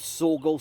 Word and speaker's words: Saughall: So, this was Sorgall Station. If anyone wonders how that's spelled, Saughall.